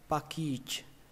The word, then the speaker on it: package: Âm này các bạn đọc là âm y, mặc dù nó ghi là a nhưng các bạn cứ đọc là y cho mình, đọc là package.